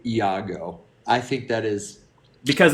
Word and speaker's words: Iago: I just love that you pronounced every syllable in the name Iago.